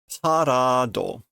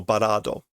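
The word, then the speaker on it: バラード: Tabitachi no parado. No barado.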